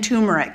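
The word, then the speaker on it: turmeric: form is ginger and tumeric and yes I know tumeric has two R's in it I think I'm pronouncing it but for some reason people aren't hearing it maybe it's my accent but anyway tumor is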